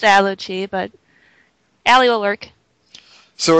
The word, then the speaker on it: Allochii: So, it's Aluchi, but Ally will work.